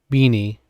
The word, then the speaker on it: BINI: was a moment where I did say uh, beanie. Uh, and that's okay. I just want to make sure I get the pronunciation right.